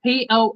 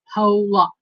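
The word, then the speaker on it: Pollock: Anthony J says a hey it's spelled poock p o l l o c k that's poock not po it's poock and I know I don't pronounce things right but you know what I I pronounce it like a read it oh Melinda says Pok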